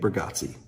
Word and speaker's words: Bargatze: Nate Bargatze.